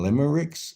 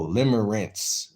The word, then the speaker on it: limerence: Is he saying limmericks? No. Limmer rents like rent. Like paying rent, but it's spelled R E N E. I mean R N. R E N C. Rents. Rinse. Rinse. Rinse. So there's no tea in there.